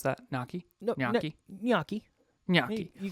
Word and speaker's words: gnocchi: Gnocchi. You know how to pronounce that? Gnocchi?